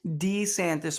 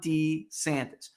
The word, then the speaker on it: DeSantis: your identity during uh early in his political career DeSantis 44 appeared to use D santis more often he always said D santis when he was a congressman right Laura always I am Ron D santis Ron D santis then